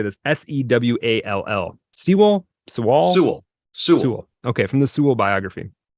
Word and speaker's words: Sewall: Sewell.